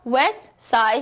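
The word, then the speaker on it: West Side: 자음 세 개 가 연속 해서 나올 때 , 가운데 자음 은 어떻게 될까 요 ? 당신 은 그것 을 생략 합니다 . 오른쪽 ? "t" 는 어떻게 발음 되었나 요 ? 어디 로 갔지 ? 뿅 ! 사라졌어 요 . 당신 은 그것 을 빼 먹었군 요 . 연결이 끊겼습니다 . 그러니까 " 웨스트 사이드 스토리 " 는 이렇게 말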